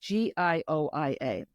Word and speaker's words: Gioia: Because my middle name in English is, but in Italian it's Gioia, and it's Gioia. There's no J. No J.